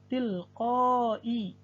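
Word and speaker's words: تِلْقَاءِ: Berikutnya jenis huruf yang keempat adalah hamzah ditulis huruf ya. Tilqai, walaupun ditulis dengan huruf ya, tetap cara membacanya adalah dengan hamzah.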